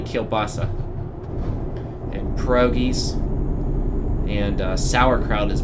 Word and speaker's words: kielbasa: So there's always been kielbasi, or kielbasa. Kielbasi is kind of the Pittsburgh pronunciation of that. We don't say that word properly. It's properly kielbasa.